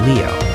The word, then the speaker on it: Liu: I personally don't care because technically the right way is Leo, but that can be hard to pronounce.